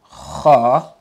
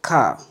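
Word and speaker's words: خ: Come on, don't say ka. Okay? Don't mix this sound with the K sound. Mm-mm. We don't have the kha sound in English. I know that. But still try to pronounce it as kha and not ka. Okay? Kha. In full mouth as well.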